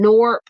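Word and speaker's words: Knorpp: butcher this last name I'm assuming the K is silent I could be wrong um norp is k n o r p p um Christina is 17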